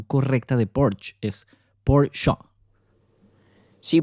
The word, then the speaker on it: Porsche: La pronunciación correcta de Porsche es Porsche. Sí, porque esa E sí se pronuncia en alemán.